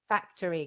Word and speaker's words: factory: and it's consumption and just make sure that you're making note of where the word stress is so it's factory because i know in